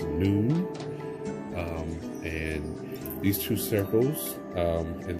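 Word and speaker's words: נון: So this card here, as you can see, it's if you look at the middle, it's pronounced noon.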